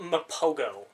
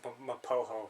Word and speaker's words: Mapogo: It's spelt Mapogo. Mapogo. But it's pronounced... Oh, here it is. Mapogo lions. Yeah. But it's pronounced Mapoho, so you better get that right.